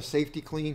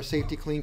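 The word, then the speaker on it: Safety-Kleen: We have a safety clean here. That's the safety clean. I don't think it's spelled that way. It isn't. It's like clean with a K. K-L-E-E-N. Yeah.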